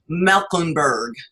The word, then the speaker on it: Meckemburg: This is former Denver Broncos captain and all-pro linebacker Karl Meckemburg.